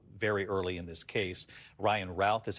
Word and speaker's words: Ryan Routh: Ryan Routh is how they've been pronouncing his name.